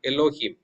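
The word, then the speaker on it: אֱלֹהִים: Alf cannot be pronounced right okay exactly so alf whether it appears in the beginning or in the middle or at the end of a word it cannot be pronounced only we pronounce the vowels that appear after alf for example in the second word elohim I'm pronouncing only not alf okay so alf and cannot be pronounced Elohim.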